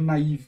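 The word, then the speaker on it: naïve: Então, às vezes você vê essa palavra naive escrita com dois tremas, é uma das formas de você escrever ela em inglês para não ficar para a pronúncia ser naive mesmo, né?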